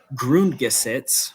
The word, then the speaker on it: Grundgesetz: the temporary basic law, which is called the Grundgesetz. Exactly. Yeah. Is that how you pronounce it?